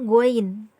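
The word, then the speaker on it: غين: dibagian atasnya ini namanya go in go in Hai cara pengucapannya itu sedikit agak ngorok Gwen Gwen ya goin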